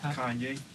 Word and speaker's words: Kanye: Kanye. Kanye?